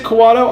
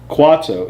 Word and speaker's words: Kuato: Is it Kawato? I've been saying Kwato my entire life. Am I wrong? Kawato doesn't seem like how you would spell it. It's Kuato. Kwato. It's not Kawato.